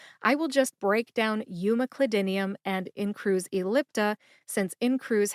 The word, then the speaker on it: umeclidinium: hear that emphasis when I say it again umac clidinium umac clidinium where did I get my information from the